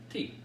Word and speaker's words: Tee: It's spelled like golf tea, but it's not. It is tea.